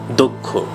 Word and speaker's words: দক্ষ: অয়ের পর ক্ষীয় থাকলে আমরা অয়ের উচ্চারণটা ওকারান্ত করব। যেমন আমরা লিখব দক্ষ কিন্তু উচ্চারণ করব দক্ষ।